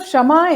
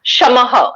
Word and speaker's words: Shamaha: She's the founder of Shamah in Mumbai. Is that correctly pronounced, Gayatri? Shamah? Shamaha. Shamaha is a Shamaha.